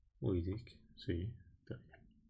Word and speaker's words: Wittig: Wittig. Wittig, sí, está bien. Para los británicos, Wittig. Y para los gringos, Wittig.